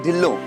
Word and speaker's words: Dillo: No, it's not Mr. Dhila. It's Mr. Dillo.